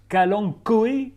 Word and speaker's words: kalanchoé: grasse on l'appelle le kalangoé alors ça s'écrit Cang choé avec un ch mais on prononce kalang koe avec un K c'est une plante très